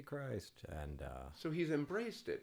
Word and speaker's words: Christ: So J. Christ, not J. Now it's Strong. pronounced Christ. I'm so sorry. No, I cannot get this right. I say because it's spelled like Christ, so when people see it, they just say J. Christ.